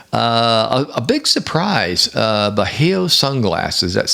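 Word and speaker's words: Bajio: one off no uh a big surprise uh beo sunglasses that's spelled b a j i o beo sunglasses uh by Roa Roca one uh so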